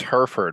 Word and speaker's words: Hereford: It's Hereford. When I moved Hereford. here, I Okay. pronounced it Hereford, and people laughed at me. Hereford, like the cow.